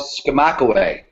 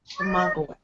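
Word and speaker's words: Skamokawa: It's called Skamakaway. Skamakaway. Oh. And it's spelled Skamakawa. It's spelled exactly like it sounds. Well, except there's no Y in it.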